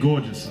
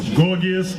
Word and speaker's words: Gorgias: Some people pronounce it Gorgias. Okay? Or some people may say it ain't gorgeous. It's Gorgias. Gorgias.